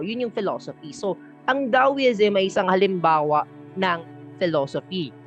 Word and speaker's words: Taoism: libro na Nabasa ko ang proper na pronunciation sa kanya ay daoism daw Okay da is it